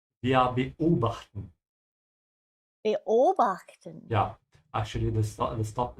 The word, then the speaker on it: beobachten: the way you pronounce this word is that you have to think of it as two chunks. So there has to be a tiny hiccup in the middle. Wir beobachten.